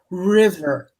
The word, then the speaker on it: river: another word that needs river it rhymes with bid rhymes with did river river river yes river